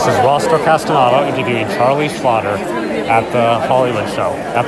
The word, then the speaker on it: Schlatter: yeah hey and I like the way you pronounced my name a lot of people don't don't do it correctly but you're right schlau a nice thank you cool thank you Charlie